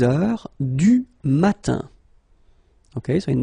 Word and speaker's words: heure: Il est 6 heures. All right, so you write it like that. Remember, H is not pronounced, okay? So it goes like heure.